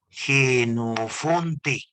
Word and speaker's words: Jenofonte: utilizar esta palabrita fue este señor vamos a pronunciarlo jenofonte jenofonte ya él fue el primero y como